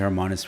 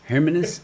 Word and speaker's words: Hermanus: going away later on uh we went to hermonis for a couple of days um but um yeah it was it's yeah we couldn't where did you go in in hermanus pronounced herous her her hermanus um oh man what was that place called